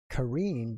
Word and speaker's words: Karine: And it says Karine, but she's Armenian, and it's pronounced Karine. From my wife's country.